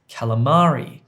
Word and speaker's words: calamari: It's calamari, calamari, calamari, and the stress is on the ma sound.